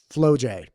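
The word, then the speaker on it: Flau'jae: So it's like FlauJae. I think it's FlauJae. FLAU apostrophe JAE. FlauJae Johnson. Okay. Now let's start with FlauJae Johnson. If we go to FlauJae Johnson on Instagram, okay,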